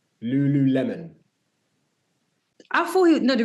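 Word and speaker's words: Lululemon: um likewise we have to talk about Francis Lulu melon L said it right Lulu Lemon I thought he no the reason why I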